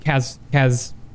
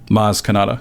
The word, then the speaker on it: Maz Kanata: He actually reminds Rey about the Force, and she remembers that Kazmadar? Huh? Maz Kanata.